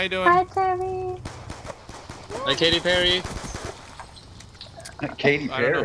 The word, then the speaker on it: Katy Perry: Is he married to Katy Perry? No. No, it rhymes with Cherry.